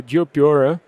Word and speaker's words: Geopyörä: name means uh so geopora which I'm not staying like in the correct Finnish way means geob bicycle por